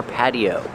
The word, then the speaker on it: patio: Now we're at the outdoor patio. This is an outdoor patio. Pronunciation patio. The T is pronounced with a fast D. Patty. Patio. This is an outdoor patio.